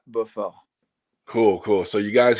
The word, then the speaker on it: Beaufort: all the time and people always say Purefort. So you know like for this time let's go with the American way but if you really want to know and how to pronounce it is Buffer.